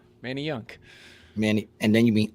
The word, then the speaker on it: Manayunk: No, it's Manayunk. Oh, Manayunk. All right. Yeah, so it's like Manny, like Manny Ramirez, and then Yunk. Manny Yunk.